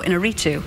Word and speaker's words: Iñárritu: I'm not exactly sure whether I get the pronunciation right every time, but it's Alejandro Iñárritu.